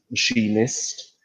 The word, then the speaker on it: machinist: recruiter okay the point machinist also we you you the spelling is quite irregular where you take off the e but you still pronounce it the same as machine she missed yes okay so we'll